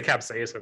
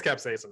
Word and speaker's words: capsaicin: I was gonna say capsaicin.